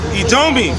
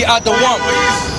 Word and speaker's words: אדום: Edomi. Which is really supposed to be Adom. But Esau, he gonna pronounce it the way he wants to pronounce it. Then he wants to try to put that pronunciation on us.